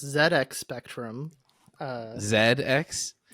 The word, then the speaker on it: ZX: pronounced ZX Spectrum uh Zed X Zed is just the British pronunciation of Z it's a British computer